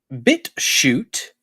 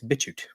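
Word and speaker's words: BitChute: for the extreme locals bit shoot that's bit space if you're going to say it right CH h u if you look at the actual address though it's all together so I can understand the confusion some might think it's bitcho it is not it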